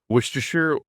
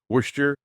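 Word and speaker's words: Worcester: Worster Worester Warchester. It's it's one of those famous it's never pronounced the way you think it is.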